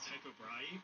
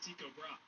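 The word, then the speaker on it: Tycho: Now, trust me, for the life of me, I really want to pronounce this guy's name is Typo, but apparently the proper Danish pronunciation is Tiko.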